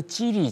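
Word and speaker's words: 吉利: 있을 거예요 그 사실 한자로 하면 저 찌리 차는 길 라는 뜻입니다 길리 기랄 길자 이익이자 그것을 중국 발음으로 하면 지리가 되는데요 자이 지리차 리차 굉장히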